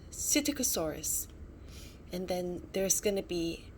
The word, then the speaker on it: Psittacosaurus: the lost egg cytokosaurus so that's how you pronounce um this dinosaur's name cyticosaurus and then there's gonna be three other characters